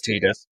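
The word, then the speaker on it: Tidus: But it has a very even though the same could be said for Titus, Titus, however you want to pronounce it. I'm not going to get into that argument now. It's Tedus.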